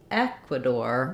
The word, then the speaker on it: Ecuador: like the Spanish so when we're saying Ecuador we stress on the E in English in Ecuadorian we do aqua door e n this is